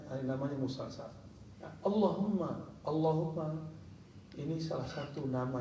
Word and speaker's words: Allahumma: Allahumma Coba baca Allahumma jadi jangan Ca Allahumma Allahumma haknya H besar Allahumma Allahumma apabila